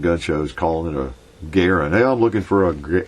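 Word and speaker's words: Garand: is uh you know John uh John Garen pronounced his name Garen as I understand and uh but once people start calling it The Gan it's stuck and so you start walking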